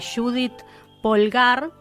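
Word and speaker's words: Judit Polgár: menciones la que escuchaban ahí hablando era eh Judith pulgar que así se pronuncia bueno la mejor la mejor ajedrecista de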